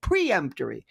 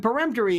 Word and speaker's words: peremptory: you have peremptory challenge ches often times mispronounced as preemptory and peremptory is this is where you